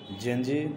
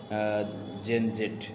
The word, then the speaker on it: Gen Z: American এক্সেন্টে জেট কে আসলে জি এর মত উচ্চারণ করা হয়। যার কারণে জেনজি খুব সুপরিচিত হয়ে যায়। এবং বিটি এক্সেন্টে জেন জেট এবং জেনজি আসলে কারা?